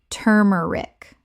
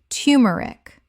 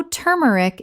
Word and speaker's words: turmeric: turmeric Common mispronunciation. turmeric Correct pronunciation. tumeric The first syllable sounds like too, not tur in careful speech, though turmeric is widely accepted.